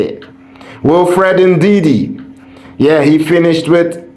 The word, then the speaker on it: Ndidi: Ndidi. Ndidi. That's how you say it. Wilfred Ndidi.